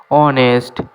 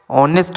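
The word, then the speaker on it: honest: অনেস্ট। এখানেও H silent থাকবে। অনেস্ট মানে সৎ।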